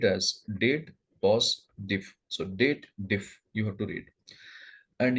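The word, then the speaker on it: DATEDIF: So here people over here, date diff formula, they do the wrong pronunciation. They believe that there is a if logical formula available. That's why they read it as dated if. But technically, this formula belongs to date family.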